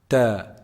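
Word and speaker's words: ت: Ta is actually pronounced from the top part of the tip of the tongue. The top part of the tip of the tongue when it hits the roots of the upper front incisors.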